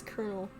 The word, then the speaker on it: Colonel: pause you stop yourself I realize it's colonel oh God I would say colonel oh no damn stupid brain why nobody yeah why did you say something I know it's colonel it's just that it's spelled like colonel oh no I we've